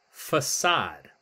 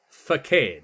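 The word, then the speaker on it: façade: And it's not, if we look on the left here, it would be facade, right? That's how we'd pronounce it. But facade is a French word. And there's this little symbol underneath the C.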